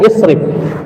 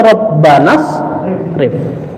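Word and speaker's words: اصرف: Huruf sebelum akhir adalah kasrah, maka dibaca dengan ya isrif. Tapi kalau disambung dengan Rabbana tidak isrif, tapi Rabbana srif.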